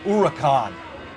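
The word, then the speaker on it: Huracán: And it's pronounced Huracan. Huracan. Oh yeah, that's right. Huracan. Huracan. Well, I know it's an Italian or Spanish bull, because it's Lamborghini, isn't it?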